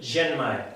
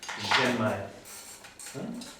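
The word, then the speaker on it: Ren Mai: T, Tumae, y el Genmae, aunque se escriba con una R, sí, suena como una J, ¿no? Una J suave catalana. Genmae.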